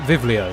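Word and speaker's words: βιβλίο: kind of cool like the b letter in Greek is a v in like it pronounced V so like the the for example the word um vivlio means book and that's where Bible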